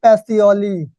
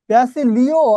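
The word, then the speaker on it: Pacioli: সেই পাগলটাকে Luka প্যাসিওলি। এটাও আছে, আবার প্যাসিলিও আছে, তবে এটাই অ্যাপ্রুভ না।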